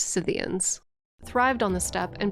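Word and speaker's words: Scythians: Warriors known as the skidians I made a boo cians it's pronounced cyan thrived on the step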